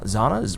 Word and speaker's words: Zana: i'm or za zana's rhymes with bananas xana got it i